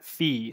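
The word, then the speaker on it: phi: is the mathematician the totient is how you pronounce that word and then the the Greek symbol that represents the totient function is fee so kind of a circle with a vertical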